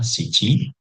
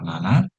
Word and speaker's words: 七: ini dibaca siji. Kemudian ada cara baca kunyomi atau secara jepangnya yaitu bisa dibaca nana ataupun bisa dibaca nano.